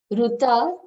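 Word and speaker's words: Rita: I'm Ruta. My name is spelled R-I-T-A, but It's only people who know Marathi will know that.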